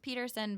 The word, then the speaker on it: Pederson: website is Peterson dot-com my name is pronounced Peterson but it's spelled like Patterson so its PE